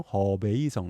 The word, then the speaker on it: 허베이성: 그래서 하북성에서 중국식 발음으로 허베이성 이렇게 됩니다.